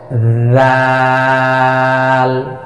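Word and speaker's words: ذال: জিহ্বার আগা সামনের উপরে 2 দাঁতের আগার সঙ্গে লাগিয়ে 4 আলিফ পরিমাণ টেনে উচ্চারণ করব। জাল, পাতলা আওয়াজে জাল জাল, এভাবে হরফের নামের মস্ক কমপক্ষে 100 বার।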